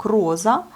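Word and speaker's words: роза: Vous voyez ici, vous avez le O accentué, on prononce bien le O, donc rosa.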